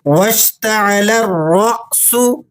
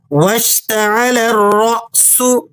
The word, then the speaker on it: وَاشْتَعَلَ الرَّأْسُ: الف مدہ نہیں ہے۔ صحیح طریقہ یہ ہے کہ لام کو مشدد را سے ملائیں اور پھر را کو اگلے حمزہ کے ساتھ جھٹکے کے ساتھ پڑھیں۔ درست تلفظ یوں ہوگا وَاشْتَعَلَ الرَّأْسُ، وَاشْتَعَلَ الرَّأْسُ۔ اگر یہ لفظ درست